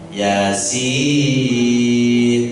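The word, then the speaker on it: يس: Oha, Yasin. Cuman ya-nya jangan panjang-panjang. Ya-nya kan hanya 2 harokat. Sin-nya yang baru 6, mad lazim. Jangan Yasin kepanjangan. Yasin itu yang betul bacanya, ya.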